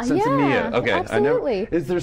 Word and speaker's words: Sinsemilla: Sinsemilla. Sinsemilla.